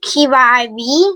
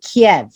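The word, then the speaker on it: Kyiv: um um is that the key the key key iv what's that good job in english we pronounce it kiev yes that is kiev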